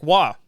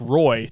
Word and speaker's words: Roy: Stanley Cup run Patrick W who my mom likes to call Patrick Roy just to make me mad because his name is spelled Ro y he's French Canadian though so it's w but my mom likes